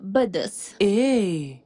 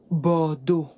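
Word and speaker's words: Bordeaux: bien sûr bien sûr et bordeau pas Bos bordeau et l'autre lion mè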